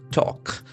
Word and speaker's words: talk: Talk. The middle L is silent.